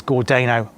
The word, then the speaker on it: Gordano: is called Eastern in gordano and it's definitely pronounced as gordano and I've had that